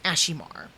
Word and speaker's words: Ashimar: If I'm pronouncing, I always call it Ashmir, but it's Ashimar.